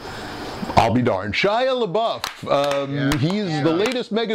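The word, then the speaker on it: LaBeouf: how you say his name I'll be darn shy abuff um he's the latest Mega Superstar rumored to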